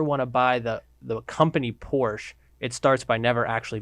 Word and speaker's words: Porsche: But Porsche. Have you ever seen his license plate? No. 2 syllables. I have never seen his license. It's 2 syllables, and it's on his Porsche.